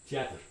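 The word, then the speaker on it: театр: But for at least some Russian speakers, this could be one syllable, teatr.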